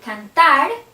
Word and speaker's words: cantar: For example, the verb cantar, the stress is in ar. The verb comer, stress er. Vivir, stress ir.